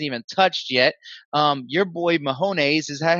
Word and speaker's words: Mahomes: Your boy Mahomes, is that how you say his name? Mahomes? Oh, Mahomes.